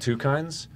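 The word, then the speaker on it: Twokinds: on his own what is it it's called two kinds uh it's this web comic that he's been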